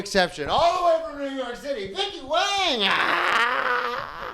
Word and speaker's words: Wang: All the WAY FROM NEW YORK CITY, VICKY WANG. OH, I forgot to tell you. I pronounce it Wong.